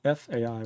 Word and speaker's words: phi: am it's right here you can see that AI is the i in price or the IE and pi so Fai would be correct ly pronounced Phi and F is like